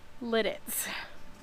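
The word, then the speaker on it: Lititz: So excuse my pauses as I say Lidditz. But when we saw all the ducks in Lidditz, of course the children were saying, when we settle down, we have to have ducks.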